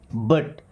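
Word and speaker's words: but: बट व्हाई? बट बी यू टी से बुट नहीं पढ़ते।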